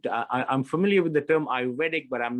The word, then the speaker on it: Ayurvedic: Rohan, have you come across any metadata analysis for Ayurvedic diet, if I'm pronouncing that correctly? Ayurvedic, yes.